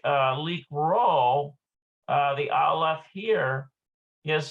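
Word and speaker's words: לקרוא: Okay, so note that the aleph in the verb likro is silent in the infinitive and singular conjugations, but it is pronounced in the plural conjugations.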